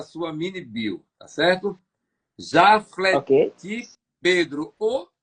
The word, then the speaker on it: Jaflety: Jafleti Ok? Pedro, ou Jaflete. Ele disse que tem essas duas Sim, pronúncias, Jaflete ou Jafleti. já. Eu preferi o Jafleti.